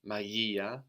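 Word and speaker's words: μαγεία: Magia, magia. This is the rama, no, like the G in magic, but softened by the E sound.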